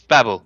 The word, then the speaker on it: Babel: No, it's Babel.